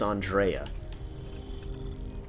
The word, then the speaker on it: Andreja: I keep forgetting that I'm trying to pick up Andreja here. Or Andrea. I was correct in my initial pronunciation of her name. Her name is Andrea.